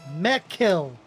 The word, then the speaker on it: Mekil: And just a correction, Missouri in the chat is saying Mekil. It's pronounced Mekil. Mekil. So thank you for that Thank you for that correction. Us We both pronounced it wrong. We gotta we both said it wrong in two different ways.